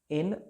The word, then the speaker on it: Ann: एन मोर है। उनका जो विलवेड है एन मोर, स्पेलिंग हो जाता है ANN, इसको एन ए मोर भी बोलते हैं, MORE, एन मोर।